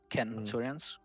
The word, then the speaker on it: centurions: You have to make sure that your legion is led by a group of centurions, centurions with a hard C. That's how Latin works.